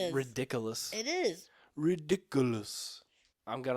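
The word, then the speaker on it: Riddikulus: bogur bogot um yeah you say the spell ridiculous and you think of something silly ridiculous yeah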